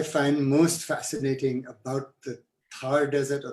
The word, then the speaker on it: Thar: most fascinating about the Thar Desert, or the Thar Desert as I've learned it's pronounced.